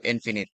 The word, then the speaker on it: infinite: Now take note sa pronunciation ng dalawang words na to. Ito lang ang word that is pronounced as finite then ag ito infinite. So you know English rules ng English.